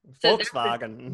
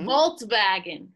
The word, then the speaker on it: Volkswagen: volkswagen right right volkswagen volkswagen so the wagon it's not a wagon it's a car dragon and bargain okay right because remember the a the a is awesome like you're at the dentist right right that's right yeah